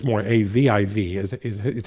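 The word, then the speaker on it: Aviv: it'll have a I you know but but phonetically in Hebrew it's more AV IV is is is how it would be correctly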